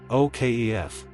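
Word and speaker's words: O'Keeffe: Okf. Say it twice. Okf. Okf. Now normal. O'keefee. Memory trick. It ends like chief.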